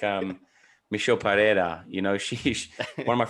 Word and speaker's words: Pereira: all saying it wrong we're all saying it wrong okay you kind of say it like paella i have no idea